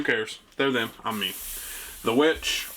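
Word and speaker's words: The VVitch: The Witch, or the Vavitch, it's why it is currently in the V's, because it's actually spelled with 2 V's, but it's called The Witch.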